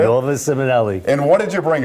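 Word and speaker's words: Nuova Simonelli: here from NOA simonelli right that's a proper way to say NOA simonelli and what did you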